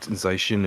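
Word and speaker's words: Zacian: Yeah, but in the like one of the first trailers for Sword and Shield, they literally said Zashin and Zamaenta. Zishin. That's where I get my pronunciation from the official Pokemon channel.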